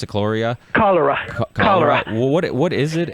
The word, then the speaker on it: cholera: It's so what is how you pronounce it? Cholera.